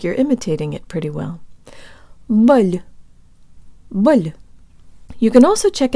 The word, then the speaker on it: боль: The O in this syllable is unstressed, so it sounds like a schwa, and the L is soft, so it almost sounds like it has a Y sound built in.